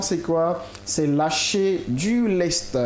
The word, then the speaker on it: lest: C'est lâcher du lest. Lest qui s'écrit comment? L-E-S-T.